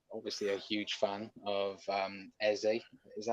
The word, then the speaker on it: Eze: Of course, he is obviously a huge fan of Eze. Is that how you pronounce his name? Eze? Yeah, Eze.